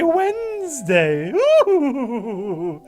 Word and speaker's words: Wednesday: you say s this another one of those strange English words in which uh it's not pronounced any way how it's spelled it's so fun the